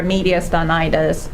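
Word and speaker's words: mediastinitis: And then what about the concern for media stonitis? Um I believe that was the correct pronunciation.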